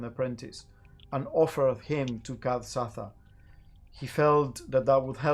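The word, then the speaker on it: Kad-Satha: The last entry just says in big bold letters, Kad Satha, which is spelled like KAD hyphen or dash SATHA, Kathsatha.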